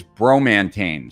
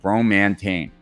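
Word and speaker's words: Bromantane: coffee in the morning and then next is bromantine so it's spelt b-r-o-m-a-n-t-a-n-e bromantine this is a very unique substance it's a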